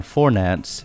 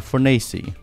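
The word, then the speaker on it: Fornace: Studios Studio lead's name his name is not forance it's fori I'm fory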